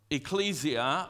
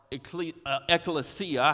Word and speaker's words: ecclesia: You can call it ecclesia or ekklesia, however, whatever book you looked up the pronunciation in, because there's a couple of different ones of those.